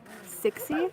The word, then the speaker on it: Cixi: because the Empress Dowager Cixi, I think is how you pronounce it, it's C-I-X-I.